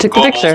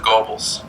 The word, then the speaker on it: Goebbels: the encounter with Joseph Goebbels. I found him sitting alone at a folding It's not pronounced like an O, it's like an O-E.